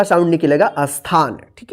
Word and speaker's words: स्थान: सटेशन मत पढ़िए देखिए जब आधा स रहेगा दंत स वाला शुरू में तो उसके बाद जो अक्षर पर जो मात्रा रहता है ना उसी का उच्चारण करते हैं जैसे यहां पर देखिए इसको क्या पढ़ेगा स्थान स्थान नहीं स्थान पढ़ेंगे आद और इसके